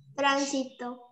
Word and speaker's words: tránsito: las palabras esdrújulas y en las esdrújulas tenemos que se acentúan en la ante penúltima sílaba y en fernando cuáles de las que están ahí tránsito tránsito y es con